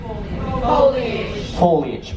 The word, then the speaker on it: foliage: up Blanche's head or how do you say that word F Oh il foliage perfect so I will really a